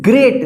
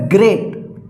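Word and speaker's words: great: यहां पर इस आर ए ए टी ग्रेट देखिए यहां पे ए ए है तो यहां पे ए उच्चारण हुआ है यहां पे ए उच्चारण नहीं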